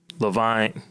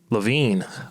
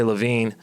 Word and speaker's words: Levine: um Yuri um um Levine LaVine I was pronouncing his name all wrong last episode but Yuri LaVine was saying about um